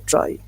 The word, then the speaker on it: trie: सबसे पहली बात ये है कि ट्राई जो है ना, इसको प्रोनाउंस करते हैं ट्राई, ट्राइज।